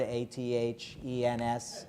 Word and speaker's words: Athens: I don't want you to make fools of yourself by mispronouncing the word A-T-H-E-N-S as Athens. Because then everybody in Illinois will laugh at you, because everybody knows that it's Athens, Illinois.